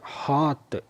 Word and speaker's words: hearth: ഇവിടെ ഈ വാക്ക് പ്രത്യേകം ശ്രദ്ധിക്കണം. HEARTH, ഹാത്ത് എന്നുള്ള ഉച്ചാരണമാണ് വരുന്നത്.